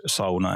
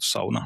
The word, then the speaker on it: sauna: What makes designing a sauna different from designing other spaces? I mean, sauna. Uh, I'm glad you're using the word sauna and pronouncing it as it as it is